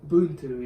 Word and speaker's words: Ubuntu: Because I mean, you introduced, it's Ubuntu, how do you pronounce it? Ubuntu, yeah.